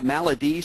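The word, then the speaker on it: MAL-ED: Lastly, there's also the Maladi studies, that's how they pronounce that.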